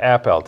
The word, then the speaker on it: Appelt: So it's Daniel, but Appelt is how you say his last name.